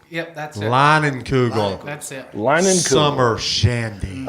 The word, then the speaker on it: Leinenkugel: Leaning Kugel. Yep, that's it. Leinenkugel.